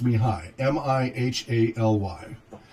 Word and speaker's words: Mihály: I H a ly so it looks like me Haley but it's pronounced me hi mih a ly Csikszentmihalyi